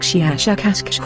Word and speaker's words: Shiashakasksh: Our language is very different from yours, but my name is, I will try to say it smoother by use of your human letters, something like Shiashakasksh with a very strong pronunciation of the SH and K sounds.